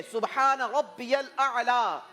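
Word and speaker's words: سبحان ربي الأعلى: Pronunciation शायद आपने गलत की है। सही प्रोनाउंसिएशन ये है सुब्हान रब्बियल आला।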